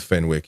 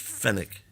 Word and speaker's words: Fenwick: will, uh, relationship with Fenwick. You got something to say about that? Fenix. Oh, there's no W. The W is not pronounced. Just fenic fenic whatever man talk about